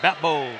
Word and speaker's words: Batbold: Sometimes, wow, you don't usually see Dominic Tham's shot block, but Batbold. Did I get that right, Afshin, the way his name is pronounced? Batbold, yes.